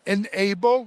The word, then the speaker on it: N-able: We're here at the booth of a company called Ena Enable. Let me show you how that's spelled.